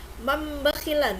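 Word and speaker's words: مَن بَخِلَ: Mam bakhila, nun sukun ketemu dengan huruf ba. Ini hukum bacanya apa? Iya, iklab ya. Jangan lupa. Mam bakhila, makanya ini ditambahin, dikasih tanda mim. Ada Al-Qur'an yang diberikan tanda mim ini ya. Artinya jadi berubah jadi mam bakhila ya.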